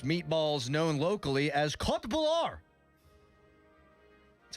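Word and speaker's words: köttbullar: Known locally as Kot Bular. That's how you pronounce that. Kot Bular.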